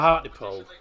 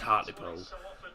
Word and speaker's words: Hartlepool: Well, it's pronounced Hartlepool, but it doesn't have a Y in it. Hartlepool. Or we call it Hartlepool. Hartlepool. Just depends on where you're from.